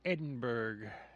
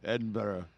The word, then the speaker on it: Edinburgh: his release he moved to edenburg and Edinburgh Edinburgh say it right you're got to piss off the Scottish people that listen to us if we don't say it right Edinburgh yeah Edinburgh so upon his release